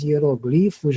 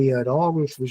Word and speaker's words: hieróglifos: Que é aquela dos hieroglifos, né? Ou hieróglifos, né? As duas pronúncias são válidas, né?